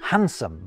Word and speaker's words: handsome: Take the silent D's in handkerchief and handsome. Although some people might pronounce the D in the latter of those, just like they might pronounce the D in sandwich, although others definitely don't.